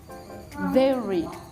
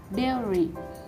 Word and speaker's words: dairy: The seventh word is dairy. The phonetics of this word is dairy.